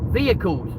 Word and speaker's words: vehicle: vehicles. vehicles, right? It is a vehicle. Yeah, the H is silent.